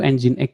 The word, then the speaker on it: Nginx: Nging ini bacanya ternyata saya baru tahu puluhan tahun dulu udah sering pakai Nging. Bacanya itu Nginx ya, Nginx bukan Nging.